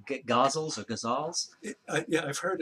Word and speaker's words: ghazal: How do you say ghazals or ghazals? Yeah, I've heard it pronounced several different ways, and you have to do the Arabic. Oh, okay. But roughly it's guzzle.